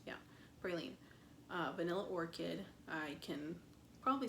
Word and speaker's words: praline: Praline, is that how it's pronounced? Yeah, praline.